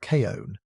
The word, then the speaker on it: Chun: The man in charge of the science was a zoologologist named Carl Chun, pronounced Kon, and he had a grudge to settle.